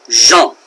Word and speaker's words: Jean: Jean boy that's French is that pronounced Jean in French no Jean would be like blue jeans okay so that's not how it's pronounced in French that is pronounced jump now John and Jean